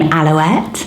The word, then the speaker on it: Alouette: Another quite similar name vibe is the name Aloette. Isn't that nice? It's spelled A-L-O-U-E-T-T-E. It sounds like pirouette again, but I absolutely loved it.